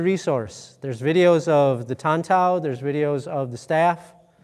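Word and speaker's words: Tan Tao: The name of this is Tantao. Tantao, yeah, so T-A-N space T-O-W. I think that's how it's spelled there.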